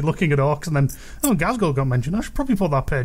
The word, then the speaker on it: Ghazghkull: I mean, Ghazghkull Thraka. That's how you pronounce it.